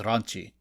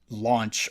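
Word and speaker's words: ランチ: commentary but also uh the Japanese don't pronounce it as lunch they pronounce her name as Ranchi so if you were being that literal her name would be Ranchi not or runchy not launch or lunch plus calling her lunch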